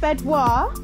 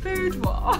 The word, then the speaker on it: boudoir: And the bedouar is set up. It is bedouar, isn't it? Boudoir. Boudoir. Oh, typical me, saying it wrong.